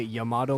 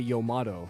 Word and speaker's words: Yamato Man: motto man stage also I know you're supposed to say a Yamato man but that's stupid why would I say it like that I don't care if it's correct that's a really stupid way to say yomato Yamato really how about yo